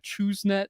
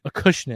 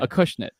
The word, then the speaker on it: Acushnet: the H rather, so I was like a ChooseNet in my head sometimes. So that's how do you say it again? Acushnet. Acushnet.